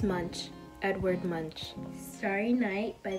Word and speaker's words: Munch: It's Munch.